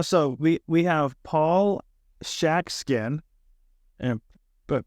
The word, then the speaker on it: Schatzkin: Paul you know so we we have Paul shackin and but pronounce it properly this time who is the